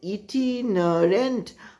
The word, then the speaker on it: itinerant: Pronunciation is itinerant, I-T-I-N-E-R-A-N-T hyphen, traveling from place to place.